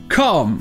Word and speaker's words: calm: Et ensuite, nous avons calm. Ça, c'est littéralement calme. Le seul truc ici, c'est que le L est muet, il ne se prononce pas.